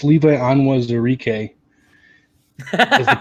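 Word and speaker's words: Onwuzurike: take care of business but um it's levi anwa's eureka that's the pronunciation for the lions pick perfect if you're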